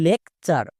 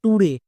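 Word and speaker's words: lecture: পাঁচ নম্বর টি ইউ আরই এর জন্য উচ্চারণ করব চার। যেমন দেখো লেকচার। বাট এই ওয়ার্ডটিকে উচ্চারণ করতে গিয়ে অনেকেই ভুল করছো। কেন? কারণ টি ইউ আর ই এই ওয়ার্ড প্যাটার্নটিকে অনেকে চিনতেই পারছো না। উচ্চারণ করছো টুরে। টুরে উচ্চারণ হবে না। এর উচ্চারণ হবে চার।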